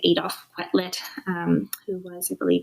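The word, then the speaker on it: Adolphe Quetelet: So originally, most people go back to a man named, I'm going to pronounce it correctly, Adolf Quetelet, who was, I believe it's a Belgian mathematician,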